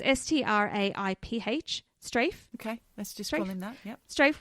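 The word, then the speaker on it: Straiph: that's how you say his name it's s-t-r-a-i-p-h strafe okay let's do this strafe Wilson and he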